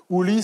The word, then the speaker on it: Ouli: Ouli serait, paraît-il, la façon de prononcer Ali dans leur langue, nous dit Ibn Khaldoun.